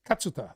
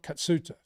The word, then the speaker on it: Katsuta: the commentary and um I learned that his pronunciation is katsuta it's not katsuta Kat very good like